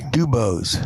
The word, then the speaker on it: DuBose: I think I said say D-U. Maybe. B-O-S-E, but he said, got to say it right. You got to say it the right way. DuBose.